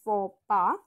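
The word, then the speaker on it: faux pas: social mistake number two the X and S are silent so you pronounce it as fora and the mistake isn't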